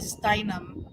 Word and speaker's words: Steinem: I know you mean Gloria Steinem. Yeah, that's how you pronounce it.